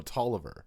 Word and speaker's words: Toliver: to say his name oh toliver toliver there's no second eye i'm reading it right in front of me dawn tolliver that's a